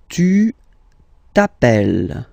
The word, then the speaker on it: tu t'appelles: Tu t'appelles. Okay, remember, final S not pronounced.